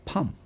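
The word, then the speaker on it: palm: 팜. 발음 정말 어려울 것 같은데 P에 L이 들어가니까 이게 도저히 안 돼.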